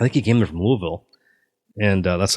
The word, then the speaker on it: Louisville: So he'd just come there from, I think he came there from Louisville. And that's how you say it. Louisville.